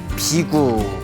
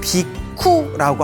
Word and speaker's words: 비구: 출가한 제자들을 비구라고 부릅니다 비구 그래서 인도에서는 비쿠라고 합니다 빅 구 그리고 이제